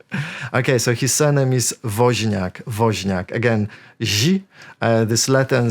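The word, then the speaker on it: Wozniak: make a guess okay so his surname is vak vak again this Latin sound does not exist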